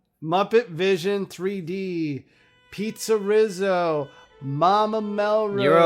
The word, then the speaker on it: PizzeRizzo: That's how you pronounce it? Yes. PizzeRizzo.